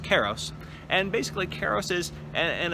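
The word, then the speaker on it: kairos: terms as i said i believe it's pronounced keros and basically karos is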